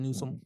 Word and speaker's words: Newsom: Gavin Newsome.